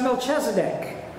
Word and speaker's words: Melchizedek: It's pronounced Melchizedek, king of Salem.